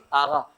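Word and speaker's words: آقا: آغا. موٹا قاف جو ہوتا ہے فارسی کا اس کا تلفظ میشه غین، یعنی قاف کا تلفظ کیا ہو جائے گا؟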